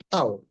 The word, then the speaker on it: tau: Nah, torsinya ini adalah besaran yang disimbolkan pakai simbol kayak mirip huruf T, tapi dibacanya itu adalah tau.